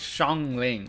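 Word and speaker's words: Xiangling: the thing is like the s x i a n she said she also said it's Shang Ling right is that how you pronounce it it's like a sh English sound but it's that the same as the sh and Shena so like oh my God so the X I A it's just the same as like sh so yeah I think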